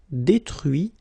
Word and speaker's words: détruit: Okay, so you can notice that even if I put this final T, so as usual, I don't pronounce it. Okay, conduit, construit, cuit, détruit, instruit.